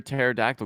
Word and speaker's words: pterodactyl: why can't you hear pterodactyl go to the bathroom because the p is silent I've ruined that one